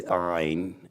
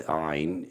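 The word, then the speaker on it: עין: The letter Ayin means just what it sounds like. I. It's Ayin. It's Ayin.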